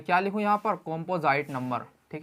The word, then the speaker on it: composite: अब हाँ, आप कहेंगे कंपोजिट, देखो सही प्रोनाउंसिएशन कंपोजिट नहीं है, कॉम्पोजाइट बोला जाएगा, ठीक है, कॉम्पोजाइट नंबर।